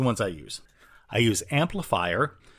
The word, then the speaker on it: Amplifr: I use Amplifier, which is it's spelled a little weird. It's Amplifr.